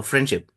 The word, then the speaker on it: friendship: So when we say friendship, so the D sound is omitted. So friendship. So we doesn't take D and pronounce or stress that particular D in friendship. Rather we say friendship.